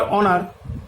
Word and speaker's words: honour: আবার অনার, HONOUR, অনার, অনার মানে হচ্ছে সম্মান, এখানে এইচ কিন্তু তার নিজের উচ্চারণটাকে হারিয়ে ফেলছে।